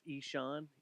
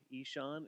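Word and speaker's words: Ihsahn: rough year for me mine was uh it's pronounced isan isan it's i h s a h n and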